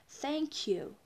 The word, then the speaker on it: thank you: Вот первая буковка не читается как z, не h, читается не как s. Мы не говорим thank you, не надо выговаривать первую букву s. Надо говорить, немножечко, смотрите, язычок высовываем и говорим thank you или thanks.